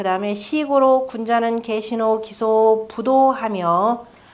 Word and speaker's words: 不睹: 나머지 뭐 주석은 굳이 읽을 필요 없고 그 다음에 시고로 군자는 계신호 기소 부도하며 디귿과 지읒이 읽을 때는 불자를 부라고 읽는다 그랬죠.